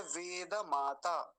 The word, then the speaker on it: वेद माता: शब्द है वेद माता अब इसको भी गलत बोलते हैं द का को आधा कर देते हैं यानी हलंत बना देते हैं और गलत उच्चारण क्या होता है वेद माता वेद माता नहीं है वेद माता ठीक है वेद माता अगला शब्द देखेंगे